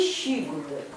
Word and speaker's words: щигудек: А читается по коме правильно, да? Не си, а щи. И вот эту букву тоже не забываем. Как эта буква правильно читается? И получается щигудек.